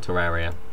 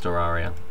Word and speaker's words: Terraria: it completely wrong because not Terraria it's Terraria but I don't care